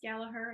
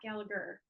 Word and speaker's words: Gallaher: I appreciate that but it is galaher and Not gallager So for anybody looking